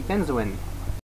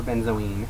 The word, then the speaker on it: benzoin: week's herb would be benzoin or benzine however you pronounce it I think both is correct um botanical name of